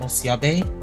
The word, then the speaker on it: Osiobe: long um my name my full name is pronounced um osiabe um the name of my